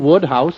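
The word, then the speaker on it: Wodehouse: here he'd agree Woodhouse what was that again Woodhouse that's how it's pronounced you see I've been making a considerable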